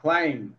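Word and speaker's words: climb: Klopp ক্ল আই ক্লাইম আইলাম এখানে বি আছে বি এর উচ্চারণ হবে না যদি এম এর পরে বি থাকে বি সাইলেন্ট হয়ে যায় আচ্ছা এবার পড়তো একটু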